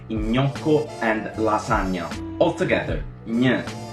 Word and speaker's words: gnocco: Try to pronounce it with me. Yeah, yeah, yeah, gne, like in gnocco and lasagna.